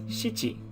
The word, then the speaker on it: 七: next up is number seven seven is uh pronounced as nana but again just with number four uh where number four is both pronounced as yon and shi nana is pronounced also as shichi so it depends you have nana or i